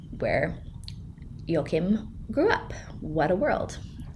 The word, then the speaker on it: Joachim: people talk about him actual German people talk about him and I'm pretty sure we call him yokim so that's what I'm going to call him yoke him spelled j-o-a-c-h-i-m I would have pronounced it as an English person Joachim but we're gonna go with yo Kim and this is Joachim